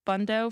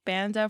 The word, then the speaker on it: Banda: about yourself yes so i have like three pronunciations of my last name there's like bundo for yiddish banda for english and like banda for crown heights which i'm not sure where they get that from but yeah he got